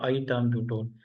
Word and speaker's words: ethambutol: इसकी प्रोनाउंसिएशन ईथाम्ब्यूटोल, तो आईथाम्ब्यूटोल, because it इज अ I toxic.